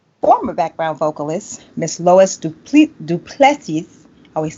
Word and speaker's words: Du Plessis: I am featuring former background vocalist, Miss Lois Du Plessis. I always say it wrong. We've been working on this one today. Help me out, Lois. Du Plessis. Du Plessis.